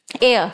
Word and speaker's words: heir: referred to Age n air, what have they said here to the coming generation? Your air, sorry, H is silent, so hair is a